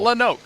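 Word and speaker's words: Lonoke: Like it's Rowanoke with an L. Lenoke.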